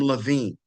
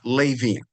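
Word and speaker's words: Lavien: Rachel marries a man by with the last name Levine, or some pronounce it Lavian, Levine or Lavian.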